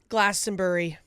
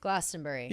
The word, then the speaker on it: Glastonbury: Glastonbury. Glastenbury.